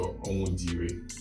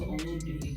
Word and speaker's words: Onwudiwe: Now please pronounce it with the accent. So it's called ONWUDIWE. ONWUDIWE.